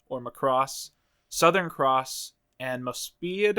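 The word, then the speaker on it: Mospeada: mcross Southern Cross and mospa I want to say it's pronounced mospa or something like that and then when it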